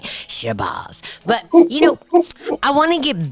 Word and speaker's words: Shabazz: and forgive me, Ilyasah, because I always say accents, but it's Shabazz. Let's just say it right. Okay, everybody gets on me about not saying names right. Shabazz.